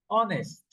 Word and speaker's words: honest: Honest. Honest. You don't pronounce the H like house.